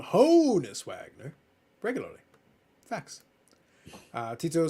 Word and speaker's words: Honus Wagner: So many people call it Hannes Wagner, but they call him Honus Wagner regularly.